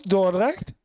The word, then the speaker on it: Dordrecht: We stayed with family in Dordrecht, and yeah, my pronunciation's not great. You were. It was Dordrecht.